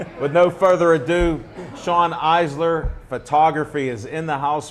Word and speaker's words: Eiser: tell them who you are in case I mispronounce anything uh you did good it was it's Sean icer so yeah it's close enough East silence so